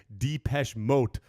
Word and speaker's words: Depeche Mode: going to make is Germans say Depeche Mode, and so moat rhymes with boat, so it's funny to them.